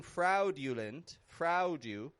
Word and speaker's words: fraudulent: I'm not going fraudulent, but fraudulent. A-U in the middle of a word often just gets that ah sound.